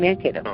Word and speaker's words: Mankato: Mankato, am I pronouncing that right? Mankato and Mankato, yep.